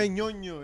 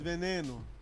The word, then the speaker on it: Veneno: veñoño, it's veneno.